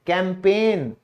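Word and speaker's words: campaign: फिर है बनावट, डिजाइन, यहां भी जी साइलेंट है। अभियान, कैंपेन, यहां भी डी साइलेंट है।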